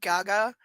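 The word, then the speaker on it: Gaggia: Her lips thin, but she nods and turns to the Okay, I swear it's pronounced like Gaga. G A G G I A.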